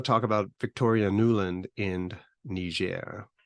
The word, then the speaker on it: Niger: And so now that we have to talk about the people who live in Niger, we're going to use the French pronunciation, Niger.